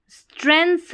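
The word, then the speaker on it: strengths: एक confidence person जो है पहचानता है देयर यानी कि जो उसकी स्ट्रेंथ्स है। स्ट्रेंथ्स का मतलब जो उसकी ताकतें हैं, ताकत है। ठीक है? जी यहां पर साइलेंट है।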